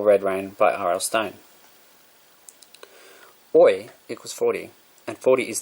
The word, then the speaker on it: Oy: But the Billy Bumbler couldn't pronounce boy, but said oi back to him. So Jake called him oi. Boy without the B. Oi.